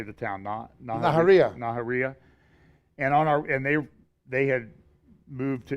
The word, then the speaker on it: Nahariya: Nahariya.